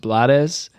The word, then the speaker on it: Blades: Paul that my last name is pronounced Blades and I'm Hispanic, and he was like, "Really?"